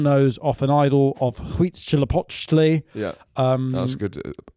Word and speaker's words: Huitzilopochtli: He cuts the golden nose off an idol of Huitzilopochtli. Yeah, that's a good pronunciation.